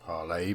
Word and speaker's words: parley: I will have to parley pronounced parlay but never mind got